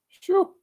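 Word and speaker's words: sjoe: It's pronounced "shoo," Okay. and it basically means the same as "phew," P-H-E-W.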